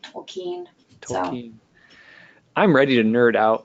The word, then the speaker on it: Tolkien: never sure I mean Tolkien is a German name originally and so the emphasis is on the second letter een tokine I'm ready to nerd